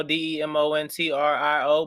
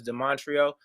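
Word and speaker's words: Demontrio: whatever my name um the montreal spell like demon trio d-e-m-o-n-t-r-i-o but it's not pronounced demon trio as de montreal the royal prince de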